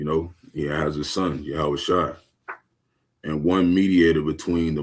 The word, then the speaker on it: Yahawashi: His name is Yahawashi. Okay? That's how you say it in in ancient Hebrew, the lash.